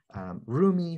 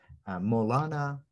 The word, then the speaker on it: Mevlana: By the way, in this conversation, I will refer to him alternately as Rumi for our English-speaking friends, Mevlana, as he was called in his own lifetime by his community, by the Persian speakers, and Mevlana, the Turkish pronunciation of the same word for our Turkish friends.